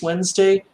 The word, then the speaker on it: Wednesday: everyone says wednesday right go back and look at the word sometime it's spelled wednesday and we all learn how to spell it like that but when it comes time to say it we just say wednesday it's like we're all